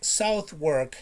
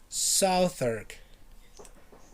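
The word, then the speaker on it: Southwark: clue it's not the you don't pronounce this word like south work no it's not south work it's southark southurg more time southard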